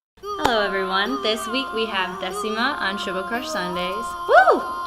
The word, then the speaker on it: Décima: With an accent. And I do that on purpose because I was like, you know what? I want a name where you can, pronounce it in English and in Spanish and still sounds the same.